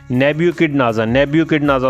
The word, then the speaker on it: Nebuchadnezzar: नेब्यूकिडनेज़र उसके नाम की प्रोनाउंसिएशन है, और ये नेब्यूकिडनेज़र 2 था, फर्स्ट भी कोई होगा।